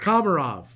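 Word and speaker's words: Komarov: uh Leo kov uh I know I just butchered his last name karov one two Josh karov kamarov thank you Dave Leo karov uh can you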